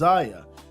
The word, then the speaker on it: Zaya: read the child has not done anything but pronounce her name as Ziya and requests she and her pronouns that's it